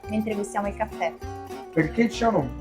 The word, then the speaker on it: Cianò: gustiamo il caffè perché Ciano cianò non è altro che il mio cognome Io mi chiamo Ciano Ciano ho messo l'accento così rende più chic rende più qualcosa di